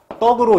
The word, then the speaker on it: 합덕: 근데 발음은 저게 어떻게 나냐면 합떡으로 이렇게 나죠.